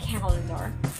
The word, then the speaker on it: calendar: number three is calendar calendar is accented in the first or rather on the first syllable so it will sound calendar the calendar that's calling